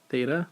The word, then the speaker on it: theta: This theta right here, it's that sign, it's pronounced theta, pronounced and written like this.